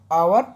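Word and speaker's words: hour: आपको बताया जैसे आवर, बताया ना मैंने, आवर, तो इसे हावर नहीं पढ़ के क्या पढ़ेंगे हम बेटा, इसे आवर पढ़ेंगे। ओके, क्योंकि इसमें एच साइलेंट रहता है, तो ऐसे ही ऑनेस्ट में एच साइलेंट रहेगा।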